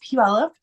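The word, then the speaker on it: Puyallup: case you wanted to know how to pronounce pup it's pronounced pup every all the foreigners can never figure that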